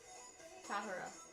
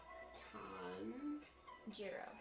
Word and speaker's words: Tanjiro: Then a J. Tomoro. No. There's no M. Tahiro. T-A-N. Tan. Jiro. There you go, you got it.